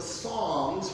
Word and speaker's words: Psalms: And you will find Proverbs just after the book of Psalms, which has a P that is silent.